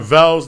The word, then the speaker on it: Harvell's: Harvell's, that rhymes with Carvel.